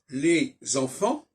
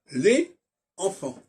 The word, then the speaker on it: les enfants: erreur de transmission donc il faut pas dire les enfants il faut dire les enfants donc il y a